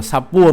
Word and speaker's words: Shapur: Hôm trước thì mình đọc con này là sa nhưng mà hình như bây giờ tôi mới thấy là con này đọc là Sapur mới đúng.